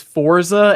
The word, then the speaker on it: Forza: That's like the people who tell me it's Forza, and because I always say Forza. I'm like, no, it's Forza. Everybody corrects me all. Yeah, no, it's supposed to be Forza because it's Italian, right? Like pizza, Forza.